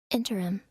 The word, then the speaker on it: interim: up for a second it's three syllables interim oh she baed three godamn it if you say it fast enough though it sounds like two put that put that